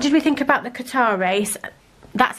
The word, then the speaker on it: Qatar: What did we think about the Qatar race?